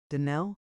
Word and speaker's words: Donnell: Denell accent on the last syllable and St.